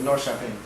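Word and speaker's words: Norrköping: k p i n g wow but you pronounce it nor shaen nor sh anyway so these these fellas that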